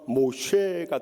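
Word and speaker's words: משה: 이것을 히브리식으로 발음하면 모쉐가 되는데 그것은 이 건져냄이란 뜻에서 유래된 거예요.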